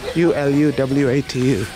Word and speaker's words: Uluwatu: U-L-U-W-A-T-U. Pronounced Uluwatu.